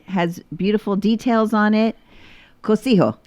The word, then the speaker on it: Cocijo: Cosijo. Cocijo, you got it.